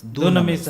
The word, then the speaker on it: dunamis: The anglicized version is dunamis, but the original Greek word pronunciation is dunamis. ఆ ఇంగ్లీష్లో అది డ్యునామిస్ అని అంటారు.